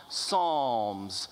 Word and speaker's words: psalm: A book or collection of psalms. When you have only one psalm, it is a psalm, no S. P is silent, drop the S.